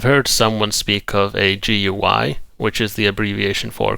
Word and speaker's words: GUI: Incidentally, I like to pronounce it also as GUI.